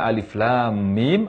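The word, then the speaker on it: الم: lam ini bagaimana mengucapkannya Alif tidak dibaca Mad tidak dibaca panjang Adapun lam lam dibaca panjang enam harokat lalu disusul oleh huruf Mim Kim dibaca panjang dengan panjang 6 harakat antara lam dan mim digunakan dengan guna sangat sempurna jadi cara membaca Alif Lam Mim adalah alif.lam.mim diantara lam dan mim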